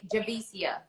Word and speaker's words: Javicia: you and let me say this i am pronouncing your name correctly when i say javisia yeah jamesia perfect all right i know if